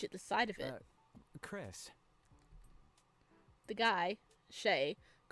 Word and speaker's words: Chrys: the side of it Chris the guy Shea his head at my name tag huh so it's pronounced like Chris but you spell it like chrysanthemum that's pretty sick it is